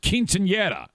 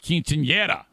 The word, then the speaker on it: quinceañera: I had four jobs to do, including my first quinceañera.